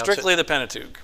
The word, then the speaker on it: Pentateuch: Yeah, How do you pronounce strictly it? the Pentateuch, right.